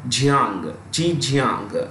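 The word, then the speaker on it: Zhejiang: well hanga is in the Chinese province of Jang G Jang you could write this G Jang is spelled Zed h e I repeat z h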